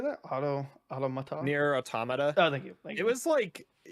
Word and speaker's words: Automata: Automata.